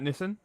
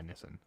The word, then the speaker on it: Nissan: It's like Nissan. So it's like how you pronounce it in Japanese is kind of similar to how Americans say it.